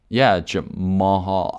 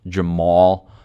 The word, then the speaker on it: Jamahal: I think I pronounced his first name a little bit weird, but it's like Jamahal. I think it's just pronounced Jamal, but there's a H in between the A's, so I just say Jamahal.